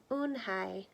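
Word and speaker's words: Unhei: our girl asked Owen hey said own hey une a that girl asked scrunching up her nose ooh some kid chanted no no Owen hey corrected it spelled you and H II I it's pronounced une hi oh it's you hey the boy said like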